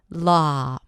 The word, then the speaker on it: law: as in daughter, or even the ah as in father, if you totally relax your lips and relax your mouth. Law, law, law. Can you hear the difference? La, law. In the second one, I rounded the lips just a bit, but my mouth was very open for both. The tongue is relaxed and pulled back just a bit.